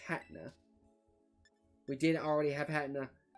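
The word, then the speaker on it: Hatenna: Oh, we did already have Hetna. 159, 400 though? We absolutely take those. Let me make sure that it's, you know, where's H? There it is. I always forget it's pronounced Hatna.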